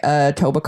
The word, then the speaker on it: Etobicoke: and then you don't pronounce the K.